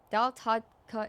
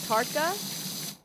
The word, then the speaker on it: tarka: Datka is an Indian dish. What's in it? Tarka. It's pronounced tarka.